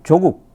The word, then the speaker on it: 조국: 종 서는 조국을 살 조국 이 발음을 짧게 됩니다 사람 조국 맛 이랜드는 종목인데 조금 c 인물은 조국 그런데 자꾸 쪽이라고 되네요 조국을 살리고 윤 성결을